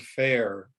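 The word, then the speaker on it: fayre: I said, you need to pronounce that word the same way. It's not quite fair. It's just this elongated word. Go with the spelling.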